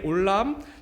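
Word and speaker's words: עולם: 존재 자체를 나타내는 상징으로 사용되었습니다 오늘 살펴보고 있는 올람 영존하시는 하나님의 이름은 하나님의 성품과 본질에 대해서 너무나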